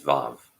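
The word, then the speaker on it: וו: particle w means hook the modern Hebrew pronunciation is VAV with the vowel sounding like short a and a French word like with which it would rhyme it means hook and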